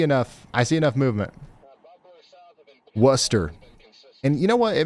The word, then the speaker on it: Worcester: I thought it was Worster. Um, but I mean, because that's literally how it's spelled, right?